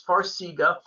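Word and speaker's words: Farxiga: with edema yeah so you pronounced it correctly it's farsiga farsiga is one of these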